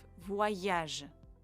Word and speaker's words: voyage: into e and ye e joins the o and creates the sound wa you remember this you